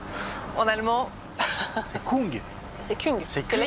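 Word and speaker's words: Küng: C'est Kung. C'est Kung, parce que là, il y a un tréma.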